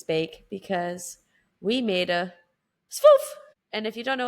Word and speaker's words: Sfouf: That is just like we learned how to say swoof today.